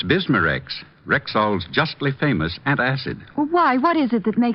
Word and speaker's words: Bismarex: Bismarex. Is that how you say it? That's right, ma'am. B I S M A-N R E X. Bismarex.